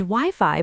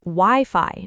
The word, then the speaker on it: Wi-Fi: And Wi-Fi, by the way, is pronounced Wi-Fi, not Wi-Fi.